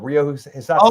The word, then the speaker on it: Hisatsune: Rio Hisatsune. Oh, okay. That's the way it's supposed to be pronounced, but people keep pronouncing it funny.